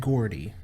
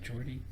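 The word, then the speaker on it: Geordi: Lavar Burton he played Gordy it wasn't it Jordy it pronounced both ways by different characters why would in the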